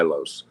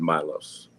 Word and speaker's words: Milos: But um I asked his mother, "How do you pronounce your son's name?" She said, "My Milos." So, let's go with Milos.